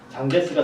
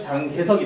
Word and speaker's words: 장제스: 국민당 정부에서 장제스가 등장하게 됩니다. 장제스는 한국 발음으로 하면은 장개석이 됩니다.